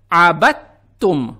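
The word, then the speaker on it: عبدتم: Поэтому не следует читать "abadtum". Мы читаем " abattum". Букву «та» мы произносим как удвоенную.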